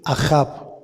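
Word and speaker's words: אהב: enamorado dar querer Amador su raíz es ajab con acento en la segunda a y quiere decir todo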